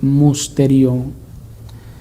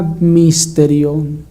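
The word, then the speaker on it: μυστήριον: la palabra griega precisamente mysterion, que si pronunciamos la U como una U francesa, que nos dice cierto comentarista del griego, sería misterion, algo así.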